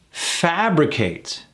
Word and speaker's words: fabricate: can do with confidence fabricate fabri at three syllables with the emphasis on the a fabricates to make up